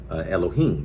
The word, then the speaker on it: Elohim: In your English versions, it's going to say God, but I have to use the correct pronunciation of Elohim, because our people did not speak English nor Germanic languages or anything of that nature.